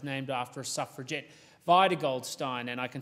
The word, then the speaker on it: Goldstein: of goldstein is named after a suffragette via goldstein and i can say with absolute confidence that's how her name is pronounced because in my research my first speech